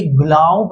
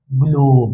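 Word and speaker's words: globe: इसीलिए ये ग्लव नहीं होगा। ये क्या हो गया? ग्लोब।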